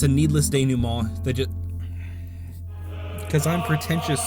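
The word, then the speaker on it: dénouement: game it's a needless day new mall they just because i'm pretentious so i pronounced ding mon like it's a french word because it is it's a needless day new mod that just feels tacked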